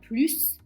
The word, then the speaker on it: plus: Parler une langue étrangère n'est pas un plus, c'est une nécessité. 3 + 5 est ég 8. Donc là plus a un nom, donc on va prononcer le s.